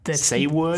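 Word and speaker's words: Saward: Say word. Sewood. Sewood is how Wikipedia told me to pronounce it like 30 minutes ago.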